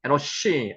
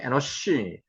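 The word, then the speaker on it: אֱנוֹשׁ: 에노스의 히브리어 발음은 에노시 앞에서 우리 계속하고 있습니다. 한번 해보세요. 에노시.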